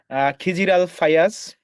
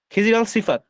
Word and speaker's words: খিজির আল সিফাত: আমাদের সাথে আরো আছেন খিজির আল ফায়াজ, খায়রুল ইসলাম। তারা সম্ভবত স্বতন্ত্র প্যানেল থেকে নির্বাচন একটু করছেন। গণতন্ত্র এবং একটু সংক্ষেপে বলতে মুক্তিযুদ্ধ। ভাই, আপনি নামটা সঠিক উচ্চারণ করেননি। সিফাত। খিজির আল সিফাত।